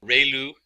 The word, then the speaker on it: ReLU: function, we have the ReLU, it's pronounced like ray, the ray from the sun, and lu, like a name, so ReLU function.